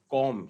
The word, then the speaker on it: comb: एंड COMB, तो फिर वही B साइलेंट है, तो इट इज कॉम, जिसका मतलब होता है कंघी।